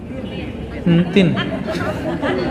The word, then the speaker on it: Entin: Entin, bacanya gini ya. Entin.